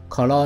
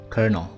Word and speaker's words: colonel: 你可能会念成什么 colonel 有没有 colonel？那可是它正确音标其实是 kernel。